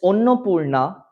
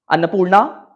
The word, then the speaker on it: Annapurna: See, I come from Bengal, my dear, and it is Tarapodo, it is Onnapurna, and it is Charu Shoshi, and it is Shonamuni. Had I been from Maharashtra or Delhi, maybe I would have pronounced it as Tarapada, Annapurna, Motilal. Okay? We have that Bengali accent and I take pride in speaking in that certain way.